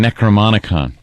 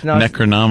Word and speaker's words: Necronomicon: And uh like the necromanicon. The what? The necromanicon. And necro. Isn't that what it's called? Yes. Necronomicon. No. No. Anthony had it right.